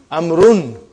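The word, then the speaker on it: عمرو: Why do you have extra vav? It is not read. It is not pronounced. It is only written. Why? Just to differentiate between these two. Actually it is amrun.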